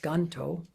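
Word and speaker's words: Gantō: yonto and of course in Japanese it's pronounced ganto and he he's notable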